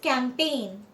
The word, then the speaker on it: campaign: B में ही देखो letter जो साइलेंट है वो है G. So first is campaign, campaign नहीं, campaign.